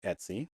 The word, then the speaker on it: etc: But it's pronounced Etsy. It's spelled etc but it's pronounced Etsy.